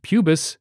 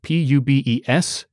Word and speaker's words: pubis: The hip bones included robust ilia and the fused pubis and ischia. Pubis is spelled P-U-B-E-S, but I'm not going to pronounce it pubes.